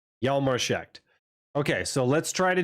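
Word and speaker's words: Hjalmar Schacht: It's not Jalmarschacht. It's Jalmarschacht. The J is like a Y in German, but the H is silent either way. Jalmarschacht.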